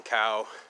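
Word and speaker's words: Cao: there's new guy Stephen cow CA oh but it's pronounced cow like like moo cow Asian guy but he's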